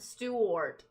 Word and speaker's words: Stewart: Stewart is pronounced like stew. Like the soup then wart. Stew wart.